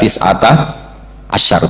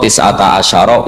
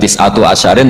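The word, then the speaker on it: تسعة عشر: Terus di surat muddir alaiha tisata asyar t baca padahal itu jadi mubtada muakhar berarti alaiha iku tetap ing atase neroko tisata asyaro utawi 19 tetap bacanya bukan tisatu asyarin tapi tisata asyar jadi kita tahu secara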